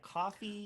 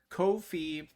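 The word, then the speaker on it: Ko-fi: kofi or is that coffee uh it's it is kofi uh because it rhymes with no fee that was uh that's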